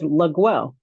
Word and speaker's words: Laguel: hear you say how you say it it's legwell okay she's the first of the well